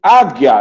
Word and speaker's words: águia: Águia, eu não ouço o som do...